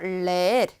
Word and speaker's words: leer: 여기 이가 2번 있잖아요. 그래서 leer, 읽다 라는 뜻입니다.